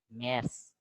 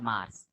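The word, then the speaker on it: März: And A umlaut is pronounced as A. In Telugu, they have that second A. So it is Ergern. Ergern. Mers. Mers. Not Mars. Mers.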